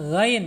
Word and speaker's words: ghain: Ini khawatirnya kalau masih kasar menyebut ghain akan mantul ag tuh, ag. Tapi kalau diperhalus ag ya, ghain ya.